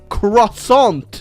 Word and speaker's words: croissant: to France home of the croissant or if you want to say it correctly Mr French person croissant and we are the